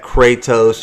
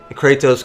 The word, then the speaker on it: Kratos: um you pronounce that kattos you're supposed to actually roll your R it's like Kos but